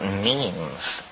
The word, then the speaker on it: meme: but last year, about memes. You know what memes are? Memes are the smallest units of a concept. And they're like genes. The word is deliberately constructed to rhyme with gene.